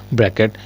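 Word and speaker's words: bracket: तो ब्रैकेट क्या है ब्रैकेट बी आर ए सी के टी सी साइलेंट रहता है सी साइलेंट रहता है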